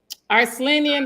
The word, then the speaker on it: Arslanian: It is Arslanian. Arslanian rhymes with Armenian, and I know it is an Armenian name.